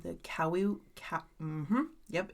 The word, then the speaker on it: Kaua'i: There is a spider called the Kaua'i Ca- Mhm, yep, it's called that right there. Kaua'i Okay.